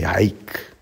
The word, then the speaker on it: haec: For intere haec, the A could be elided or blended. The H would be either silent or pronounced very softly. So, intere haec.